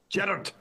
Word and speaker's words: Gerard: Well, that means you're having to pronounce my name in a Scottish accent, like my mum. Gerard. In America, they say Gerard.